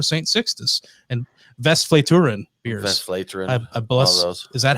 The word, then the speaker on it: Westvleteren: Westvleteren.